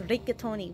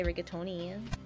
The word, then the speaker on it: rigatoni: You gotta pronounce rigatoni with a lot of rolling R's. Ra ra ra. Ra ra ra. Like that.